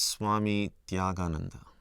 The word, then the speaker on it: Tyagananda: My name is Swami Tyagananda. It's quite a mouthful for many people in the West to pronounce my name.